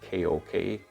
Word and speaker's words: Kok: I bought these in Copenhagen in a very nice shop called, well, it's spelled K-O-K, Kok, which in Danish means chef.